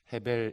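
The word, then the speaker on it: הבל: 둘째가 아벨이 입니다 레이아 베레 2 원래 이르 발음은 해 베리 입니다 헤 벨 이라는 뜻은 여러분 점도 소 해보시면 허 때고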